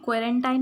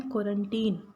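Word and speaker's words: quarantine: ये क्वारंटाइन नहीं है, इसका प्रोनाउंसिएशन क्वारंटाइन नहीं है, इसका प्रोनाउंसिएशन है क्वारंटीन, राइट।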